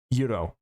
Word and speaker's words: gyro: you're mentioning this gyro, is it actually pronounced like Yuro? Is that correct or is that propaganda? Do we do we have any any gyro/o knowowers? Yes, it's Greek Um, Get the G out of there immediately.